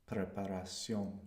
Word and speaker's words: preparación: Now, if it's shun, Tion, if we have shun, it's going to be Cion in Spanish. Preparación.